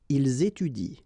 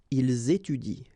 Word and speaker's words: ils étudient: so and t, well, you don't pronounce it, so you will get ils étudient. All right, ils étudient.